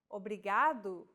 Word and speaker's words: obrigado: here in lesson two don't pronounce it like an English R don't roll your tongue listen to how Anna is pronouncing this sound the think of the quick tapping motion your tongue makes as it strikes the top gum Ridge in words like ladder or butter all together it's foreign